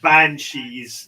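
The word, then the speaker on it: beansidhe: spellings of stuff like banshees he spelled b-e-a-n-s-i-d-h-e and that's pronounced banshee but yeah it looks like bean city yeah uh it's pronounced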